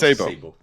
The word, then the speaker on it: Sebo: Sabo, am I saying your name right? Yeah, it's correct. Sebo. It's not Sebo, but Sebo. We pronounce Sebo.